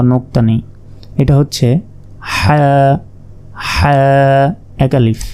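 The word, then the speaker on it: حاء: এটা হচ্ছে হা হা, এক আলিফ হা। হলকের মধ্যভাগ হতে হা উচ্চারিত হয়, হা।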